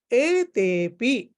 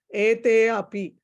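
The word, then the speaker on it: एतेऽपि: ఒకవేళ కనుక ఎగ్జాంపుల్ తీసుకోవాలంటే ఏతే అపి, if you take it, ete plus api, etepi అవుతుంది. You will not say ete api.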